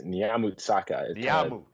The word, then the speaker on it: Nyamutsaka: My last name, it's Nyamutsaka. Nyamutsaka. Okay. Nyamutsaka. He kind of rolled it to the end of the Y.